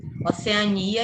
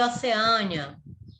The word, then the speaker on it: Oceania: duas formas estão corretas Oceania e oceânia as duas palavras estão corretas sério e xerox as